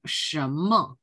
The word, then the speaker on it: 什么: 어떻게 발음해야 돼요? 什么? 什么？ 라고 발음을 해줘야 돼요.